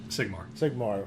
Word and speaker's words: Sigmar: Sigmar.